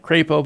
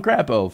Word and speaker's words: Crapo: bill after Mike Crapo I know that's not how you say it it's Mike Crapo but I call him Crapo for obvious reasons would increase the threshold